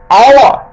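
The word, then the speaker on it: hour: আওয়ার, এইচ ও ইউ আর, তাহলে এইচটা বাদ দিয়ে কিন্তু উচ্চারণটা হচ্ছে কিন্তু, তাহলে এক্ষেত্রেও কিন্তু ভাওয়েল সাউন্ড, তাই অ্যান আওয়ার, 1 ঘন্টা।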